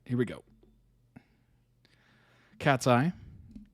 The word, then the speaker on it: Katseye: Cat's Eye, pronounced Cat's Eye, is a girl group based in LA, California.